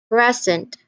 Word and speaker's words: present: two words, but the differences between how you pronounce one word with different stresses. Say for example, the first one, present, percent, present, percent, contract, contract, contract, contract, record, record, record, record.